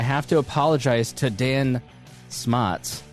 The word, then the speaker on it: Smotz: And I have to apologize to Dan Smottz. I've been saying smotes for roughly 5 years now.